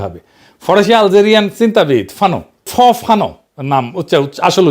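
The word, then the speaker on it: Fanon: ফরাসি আলজেরিয়ান চিন্তাবিদ ফানো ফানো নাম আসল উচ্চারণটা উনি বলছিলেন পরাধীন জাতিগোষ্ঠী লড়াইয়ের ভিতর দিয়ে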